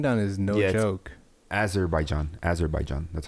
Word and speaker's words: Azerbaijan: Azerbaijan. That's how you pronounce it.